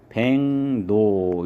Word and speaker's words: 백로: 기역이랑 리을이랑 만나면 기역은 이응으로, 그러면 리을도 니은으로 이렇게 돼서 발음은 백노 이렇게 발음을 해야 돼요.